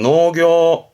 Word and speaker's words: 農業: 발음은 노교.